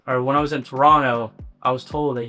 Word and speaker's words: Toronto: Or when I was in Toronto, I was told that you can't pronounce the T, like it's super offensive. So Toronto, I was in Toronto, had a headline show there.